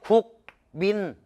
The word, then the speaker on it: 국민: 국민, 국민. 아이 따라 읽어봐. 국민, 국민. 어떤 게 편해? 국민이 편하지. 야, 이 발음을 해야지. 자, 이 미음의 영향을 받아서 비음인 이렇게 바꿔주는 거야.